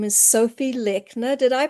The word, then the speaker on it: Sophie Lechner: Today we have a special guest and her name is Sophie Lechner. Did I pronounce that right, Sophie?